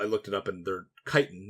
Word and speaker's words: chitin: She said, by the way, it's not a ch sound, it's a hard k sound. And I was like, are they called Kittenbucks? Whoa! And then I looked it up, and they're chitin, not kitten.